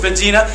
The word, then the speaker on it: Medina: Medina no no no no no not that city right up the road it's Medina pronounce it correctly guys all right so Muhammad goes to Medina he starts to get